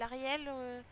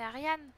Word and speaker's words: Ariane: Mais c'est moi qui le prononce mal ou parce que tout le monde se trompe, on m'appelle Ariel. Pourtant, c'est Ariane.